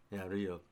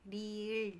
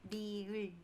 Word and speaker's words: 리을: Rio, I can never say this. How do you say this? 리을. Yeah, 리을. yeah.